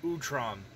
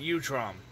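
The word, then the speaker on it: Utrom: heard it both ways it's called it's actually pronounced utram it's not you trom so um the Ultram actually looks really good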